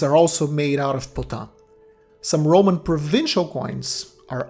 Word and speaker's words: Potin: Now, the word Potin, Potin, what does it mean? Well, from one of the ways we pronounce it, Potin, we can guess it comes from French, from pot, or in English, pot.